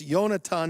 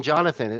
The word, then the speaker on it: Yonatan: God helps now Rabbi someone's telling me that I miss I'm mispronouncing your name that it's yonatan not Jonathan you I I wrote on my screen Jonathan or you the truth is in Hebrew it's johannatan but either way is fine it's Jonathan is fine